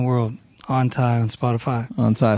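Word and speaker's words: Anhthai: On Ty, spell it for the people.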